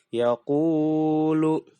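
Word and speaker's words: يقول: Cara membacanya mad asli atau mad tabi'i yaitu dibaca panjang 1 alif atau 2 harokat atau 2 ketukan. Contoh, yaqulu. Jadi jangan terlalu panjang dan jangan pendek, apalagi pendek.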